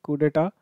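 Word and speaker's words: coup d'état: ये French word है कू डेटा, तो इसको कू कहते हैं, सिर्फ यू डोंट pronounce the पी।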